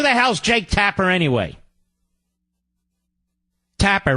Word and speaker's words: Tapper: hell's Jake Tapper anyway Tapper rhymes with clapper there you go